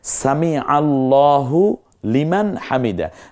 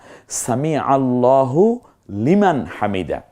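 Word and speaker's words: سمع الله لمن حمده: বলবো না, সামি আল্লাহ, কারণ আল্লাহ শব্দের পূর্বের অক্ষরটা জবরযুক্ত হয়েছে। এই জন্য আবার আমরা সামি আল্লাহু লিমান হামিদা বলি না, সামি আল্লাহু লিমান হামিদা। খুব চমৎকার উচ্চারণ করতে হবে, সামি আল্লাহু লিমান হামিদা।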